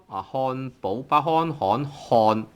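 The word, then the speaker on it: 漢堡包: 漢堡包漢堡包 tone 3 煲 tone 2 煲漢堡包.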